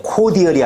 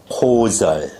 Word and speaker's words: cordial: 발음 주의해. 코디얼이 아니라 어떻게 발음한다? 코절.